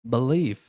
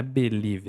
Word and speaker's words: believe: Believe. Bel. Então, a gente pode fazer a pronúncia, né? Believe, mas não, não é Bel, é believe.